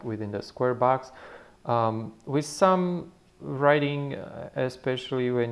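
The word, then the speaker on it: בוא: The last letter is silent, that's the aleph. And in the middle we have a vowel O. So the sound, the pronunciation of this would be bo.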